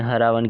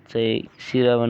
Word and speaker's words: सिरावण: कई कई गांवों में हरा रावण कहते हैं। लेकिन सिरावन उच्चारण है और जो सुबह का नाश्ता होता है उसे सिरावण कहते हैं।